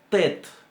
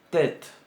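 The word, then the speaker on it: טית: La tet en realidad se empuja toda la lengua hacia adelante, hacia los dientes y la encía para pronunciar la letra.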